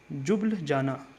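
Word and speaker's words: Ljubljana: जो है वह है जुबल जाना ठीक है जुबल जाना जुबल जाना ठीक है एल से नाम शुरू है लेकिन एल जो है साइलेंट है और जुबल जाना जो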